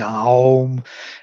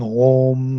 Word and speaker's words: Om: Tantrics are doing Aum, Vedic are saying Om, Narad insists on Om, no Aum.